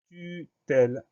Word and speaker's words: tutelle: Le son E va se prononcer E parce qu'il est suivi de deux consonnes, donc c'est pas la peine de mettre d'accent.